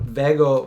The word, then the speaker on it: VEGO: So first of all, it's the VEGO bar, which can be pronounced VEGO, VEGO. I talked to the owner. I said, what's the proper way to say this? And he says, there's no proper way. You know, some people say VEGO. Some people over here say VEGO. It's all okay.